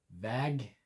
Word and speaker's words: väg: The longer a sound in väg, because it's got one G, the shorter a sound in vägg, because it's got two G's on the end.